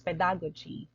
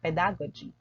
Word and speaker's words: pedagogy: The usual stress of this word is pedagogy. When I was unfamiliar with this word, I often just simply say pedagogy. So we can be corrected now. So it's pedagogy. It's not pedagogy.